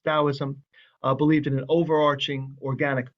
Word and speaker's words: Taoism: being core society taoism sometimes written with a d sometimes written with a t but still pronounced taoism believed in an overarching